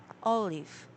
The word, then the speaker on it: olive: is yeah yeah the first syllable is stressed olive but did I oh